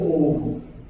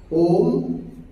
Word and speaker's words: Om: Tout d'abord, Om. Om, A ou M, A I M. A, Akar, Ukar, Makar.